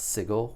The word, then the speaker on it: Sigil: we have is called sigle and Beyond and yes it is pronounced sigle with a hard G this book is 96